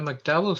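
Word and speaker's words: MacDowell: And Greg, you've also been a McDowell Fellow, is that right? Am I pronouncing it correctly?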